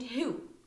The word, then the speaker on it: who: be careful and then lastly we have W answer not answer answer and who so here it's in the middle and here it's in the beginning of the word so answer and who we have the two words with a silent W uh there are many